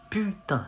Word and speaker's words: putain: Putain. Not pou. Putain.